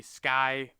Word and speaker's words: SKAI: your fees, subscriptions with the Sky, I think it's how they pronounce Sky, but the SKAI, the Skillful AI token, which we'll be taking a look at here in a little bit.